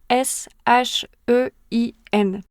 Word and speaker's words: Shein: Tu connais peut-être l'entreprise Chin. La prononciation est un peu différente selon les pays, mais ça s'écrit s h e i n.